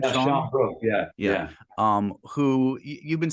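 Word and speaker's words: Sian Brooke: Sean Brooke, is that how you pronounce her name? Yeah, Sean Brooke, yeah.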